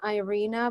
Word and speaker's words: Irina: in an instant yay Idina yay welcome hi Aloha Aloha can you hear me I can hear you great it's awesome I say my name Irina but I like your way better I like it I